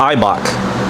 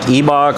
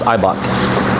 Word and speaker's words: Eibach: It's pronounced IBOK. Like some people are like Ebok or whatever. It's IBOK.